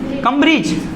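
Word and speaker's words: Cambridge: ये किसकी स्पेलिंग है बेटा, ब्रिज, कम ब्रिज, कैम्ब्रिज यूनिवर्सिटी। सर अब मैं बोल रहा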